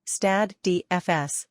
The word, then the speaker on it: Stade de France: The Stade de France, French pronunciation, Stade de France, lit.